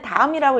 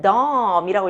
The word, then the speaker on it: Daum: DAUM이라고 써 있는데, 엄마 이거는 다음이라고 읽으면 안 돼. 이거는 덤이라고 읽어야 돼. 이렇게 AU가 소리, 긴 장모음 소리가 난다는 거를 얘가 파악을 한 거예요.